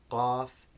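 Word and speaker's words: قاف: So again, you can hear the similarity, but they shouldn't both be pronounced like the English K. That's only the kaf, the second of the two. The first one, the qaf, is the clicking sound, qaf, in words like Quran.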